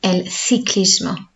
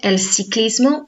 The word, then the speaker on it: el ciclismo: If you said el ciclismo, that's still correct. That's more of a South American pronunciation of Spanish, or certain regions of Spain will say el ciclismo. So that's why you will hear in music charts, the pronunciation will sound slightly different. So in Spain, for example, that famous song before in Spanish, that was Despacito. In Spain, they wouldn't pronounce it Despacito. Okay, that th sound.